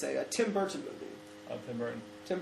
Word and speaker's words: Burton: It is with a T, but you don't pronounce the T. Burton. No, you don't say Burton. Okay. It's Burton.